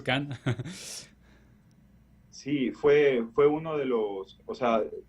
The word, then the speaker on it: Cannes: Porque yo comencé a investigar sobre él y vi que ya había ganado Cannes. Tú vas a corregir con el acento francés. Sí, está muy bien pronunciado, de hecho, Cannes.